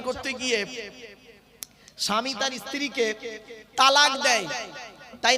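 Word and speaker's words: طلاق: ধর্মে স্বামী-স্ত্রী সংসার করতে গিয়ে স্বামী তার স্ত্রীকে তালাক দেয় তাই না আরে ভাই বলুন না শব্দটা কিন্তু তালাক নয় শব্দটা তালাক বলবেন না কেউ শব্দটা হলো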